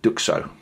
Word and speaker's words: Duxot: Um, yeah, I've heard quite a few different pronunciations of the brand uh on uh on other YouTube channels uh reviewing this brand. Um, but I'm going with Duko and they have been